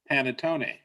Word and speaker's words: panettone: wanted to try and make panettone i pronounced that right yes is it difficult and